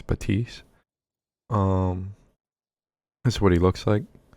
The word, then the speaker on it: Baptiste: Baptiste is how I think. It's what I'm hearing how people pronounce it. Obviously, you're gonna hear people say Baptiste, but I think it's Baptiste.